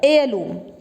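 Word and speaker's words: heirloom: Honest, our, honourable, honour, air, एयरलूम। ठीक है, अब देखो मैंने 6 वर्ड्स तुम्हारे आगे बोले हैं, दिखने में शुरू हो रहे हैं ये एच से, बट एच इज साइलेंट।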